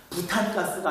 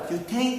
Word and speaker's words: 뷰테인: 좀 정확히 바뀌어 가지고 이거는 부탄가스가 아니라 뷰테인 가스 메탄가스가 아니라 메테인가스 그런다 이렇게까지 외우게 되면 우리